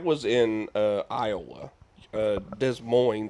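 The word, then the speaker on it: Des Moines: in uh Iowa uh Des Mo I believe in mo mo mo sorry we're pronouncing all the letters today I know I'm still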